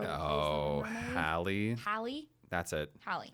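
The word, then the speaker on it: Halle: Holly? Holly, the girl who plays Oh, the mermaid? Hallie. Hallie? That's it. Hallie.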